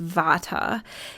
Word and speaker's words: Vata: and they're around the elements so one is pronounced Vata and that is a person who has primarily